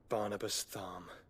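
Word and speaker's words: Barnabas Tharmr: at one man's behest barnabastham see again an r at the end of the name but they don't pronounce it why is it there meanwhile yagora the free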